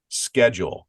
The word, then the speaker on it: schedule: Two syllables, schedule, SKE-JU with an umlaut over it, L.